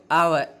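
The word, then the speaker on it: hour: C returned after आवर dash आवर। इसको हम हावर नहीं बोलेंगे, आवर बोलेंगे। तो इसकी प्रोनाउंसिएशन देखिए, इसको हम बोलेंगे आवर, इसको हम आवर बोलेंगे।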